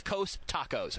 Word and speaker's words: Costacos: COSTACOS. It's Coast Tacos.